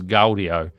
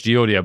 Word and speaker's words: Gaudio: audio stem splitter I'm fairly certain that's how it's pronounced although I went on this on their YouTube channel and I think they've got an automated voice that says gdio but I'm fairly certain it's geio but correct me if I'm